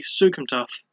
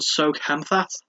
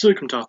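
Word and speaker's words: Souksamthath: So I had no idea how to pronounce it beyond Soukhamthath, which sounds really weird and funny to say, but it's Sukumtath, so I now know how to say it.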